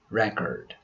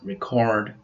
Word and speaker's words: record: With the other 3 words, the stress changes according to their use. As nouns, their pronunciations are record, rebel, and increase. As verbs, we pronounce record, rebel, and increase.